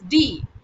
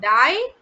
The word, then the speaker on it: die: lemonade okay that is d okay it's not die okay is d okay i e in german is always pronounced as e okay so it's not